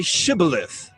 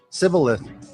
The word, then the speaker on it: Shibboleth: They said to him, Then say Shibboleth. And he said, Sibboleth, for he could not pronounce it right.